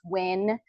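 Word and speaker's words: Nguyen: my name's Dr win uh n guu ye n but it's pronounced win like let's win chemistry that's my YouTube handle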